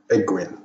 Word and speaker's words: Ecgwynn: and his first wife egwin ecwin is spelled w y double n sounds like a welsh name modern historians regard him